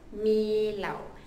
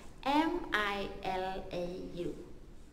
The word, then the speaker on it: milau: Yang seterusnya bulan 11, which is bulan kelahiran saya, adalah bulan 11, iaitu dalam bahasa Kadaz and Dusun Milau. M-I-L-A-U.